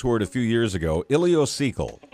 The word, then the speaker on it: ileocecal: to say this word a few years ago ilocal right yes sir ilio as an ilocal valve